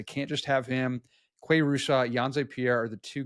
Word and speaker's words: Russo: Quay Russo, Yanze Pierre are the two guys I'm looking to potentially help with that. So it's Russo, not Russo for Quay, right?